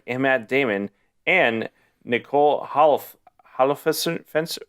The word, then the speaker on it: Holofcener: Written by Ben Affleck and Matt Damon and Nicole Holofcener.